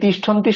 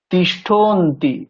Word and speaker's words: তিষ্ঠন্তি: যুক্তাক্ষর আছে নয় হস্ তাহলে এখানে যে নয় হস্ত প্রথম বর্ণ নকার সেটা কিন্তু আগের সাথে উচ্চারণ হবে উচ্চারণ করছি তাহলে বুঝতে পারবেন তিষ্ঠন্তি এখানে আমরা কেমন উচ্চারণ করব তিষ্ঠন্তি তিষ্ঠন্তি তাহলে নকারটা আমরা ঠনের সাথে বলে নিচ্ছি তিষ্ঠন্তি তিষ্ঠন্তি তারপরে কেমন